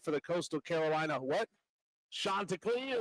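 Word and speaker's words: Chanticleer: Shanta Clear. Shanta Clear.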